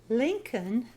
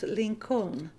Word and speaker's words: Lincoln: during the Civil War Lincoln was the president during the Civil War notice that there is an L between the O and the N that is a silent letter once upon a night